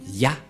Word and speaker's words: Yah: Qu'on ne doit pas changer, car dès que vous voyez les formes Yod et He, vous le prononcez directement Yah.